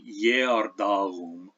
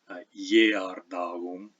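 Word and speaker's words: geardum: we say in Jardaum, we have the other two pronunciations of the G, and here they are. It's got a dot over it. That means it's palatalized. You could almost replace this with a Y for everyday use. Jardaum. And then in the second half of that word, darum, we're pronouncing a light velar fricative. If you know Spanish, this is like the G in pagar.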